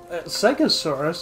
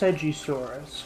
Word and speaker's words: Segisaurus: pleasure to welcome the seuris well seasa surus uh Lady it's pronounced segisaurus get with the program please